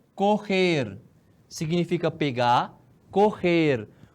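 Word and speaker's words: coger: Correr. O G com E tem esse som. Correr. Parece som de RR, né?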